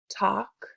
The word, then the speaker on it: talk: Remember that the L is silent.